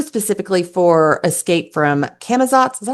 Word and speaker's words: Camazotz: I can't wait for volume 2, specifically for Escape from Camazotz. Is that how you say it? I can never remember. Yep. Camazotz.